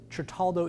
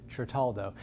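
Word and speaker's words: Certaldo: that is yes yes tritaldo italy i mispronounced it the first time i said it but bryce corrected me chartaldo and you know what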